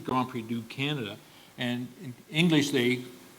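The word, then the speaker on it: Grand Prix du Canada: it's not French and in French it's it would be grand PRI to Canada I think Grand PRI to Canada players but but it should be grand PRI do Canada and in English they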